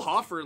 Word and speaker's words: Hofer: Hofer Hofer Hofer Hofer I'm going to say Hofer Hofer I think it's spelled hoer I'm going to say Hofer BL